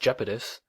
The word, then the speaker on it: Iapetus: Iapetus, sometimes pronounced Iapetus, is the third largest moon of Saturn and 11th largest moon in the solar system.